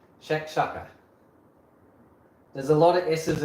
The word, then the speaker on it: shakshuka: Like I'm gonna know what shakshuka is.